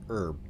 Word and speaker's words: herb: Like we we it's it's a silent H almost in America.